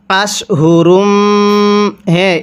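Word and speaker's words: أشهر: এরপরে আশহুরুম, এই শিনটাকে আমরা মোটা করে পড়ব। কিভাবে পড়ব? আশহুরুম।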